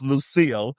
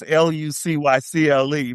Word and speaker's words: Lucille: And the only other one that's actually kind of strange, other than Pamela with a Y, is Lucille, because it looks like Lucycle. So it's Lucycle, but it's Lucille.